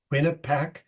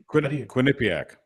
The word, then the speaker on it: Quinnipiac: and what is it I can never pronounce the pole what is quin quinac Quinnipiac yeah they've got Biden ahead